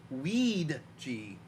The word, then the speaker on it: Ouija: The Ouija board. I'm sorry, it's pronounced Weed-G.